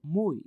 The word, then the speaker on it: MOOI: The next news is from Japan, and this is from a company called MOI, which is spelled as MOOI.